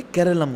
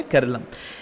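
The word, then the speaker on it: കേരളം: है, नाम क्या है, केरलम। इसको कंसिडर किया जाता है एज a closure reflection of original Malayalam pronunciation.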